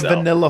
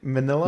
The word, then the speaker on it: Manila: fist gonna be a vanilla when how do you say it Manila manila I said vanilla in